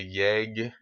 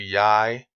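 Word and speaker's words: jeg: Um, for example, when you see the word for J-E-G, it'd be in American you want to say yeg, but it's actually yai, and so you need to know how they pronounce them.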